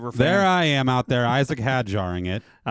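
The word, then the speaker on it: Isack Hadjar: Isaac had jarring it.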